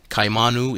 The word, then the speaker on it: Kaimanu: Kaimanu is pronounced kaimanu. Or if spoken rapidly, the two initial vowel sounds slur into kai, rhyming with high.